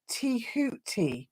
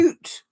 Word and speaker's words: Tehuti: DJ, Thoth pronunciation in Egyptian is more like Tehuti, something like that. Oh, so thank you. Toot.